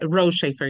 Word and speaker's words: Rotschafer: saying your last name correctly um that's right R shaer you just don't pronounce the okay I I think I was